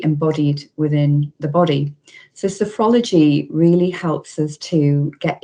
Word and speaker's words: sophrology: So do you want to tell us a bit more about your, is it, how do you pronounce it, sorry? Sophrology.